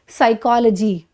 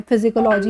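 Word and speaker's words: psychology: बना सकते हो और इसको प्रोनाउंस क्या करोगे, साइकोलॉजी, नॉट पी वाली साउंड नहीं देनी है, फिजिकोलॉजी ये कुछ इस तरह का नहीं बोलना है, बहुत सारे लोग उसको इस तरह प्रोनाउंस करते हैं।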